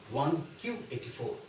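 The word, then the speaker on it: 1Q84: 1984 calls his book one q84 and this is takes all well very seriously does not refer to 1984 it calls it QQ in Japanese nine is pronounced as q but by doing one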